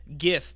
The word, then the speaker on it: GIF: Except no GIF has ever said GIF because there's no volume in a GIF.